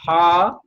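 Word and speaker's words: حاء: And the next letter is Ha. Ha. From the throat. Make the sound come out from your throat. Ha. Ha. Ha. Ha. Very good. Very good. And the next letter is Ha.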